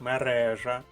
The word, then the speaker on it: мережа: в лапках мережа Facebook зверніть увагу наголос мережа енциклопедія Вікіпедія сайт урок